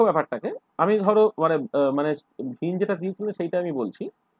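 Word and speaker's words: Wien: 1893-তে বিজ্ঞানী ভিন, কোনো ওয়াই না বলে অনেকে, এটা একটু উচ্চারণটা ভিন মানে ম্যাক্সিমাম ক্ষেত্রে ভিন বলে।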